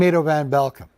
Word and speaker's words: Ado van Belkom: Hi, I'm Ado van Belkom. If you ever wondered how to pronounce that name properly, here's a couple of tips. Ado, like potato, and Van Belkom, like you're welcome.